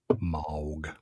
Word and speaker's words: Moog: him moo Jean pea it's pronounced MOG MO mohog so I'm gonna listen to